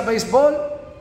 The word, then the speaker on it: béisbol: verdad voy a decirlo literal base vale se pronuncia béisbol y allá le tenemos un nombre popular y